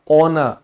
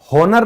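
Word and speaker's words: honour: जैसे सम्मान, तो हम देखते हैं एच के बाद ओ आया है तो ये साइलेंट हो जाएगा। क्या बन जाएगा? ऑनर, योर ऑनर, ठीक है, आई एम ऑनर्ड, है ना। होनर नहीं बोलना कभी।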